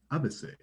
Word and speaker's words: abaissé: And abased in French is abaissé. Mm-hmm. Because of the way they pronounce the Roman alphabet, the abased, their moniker was the ABC. Mm. Because in French, that's pronounced ABC.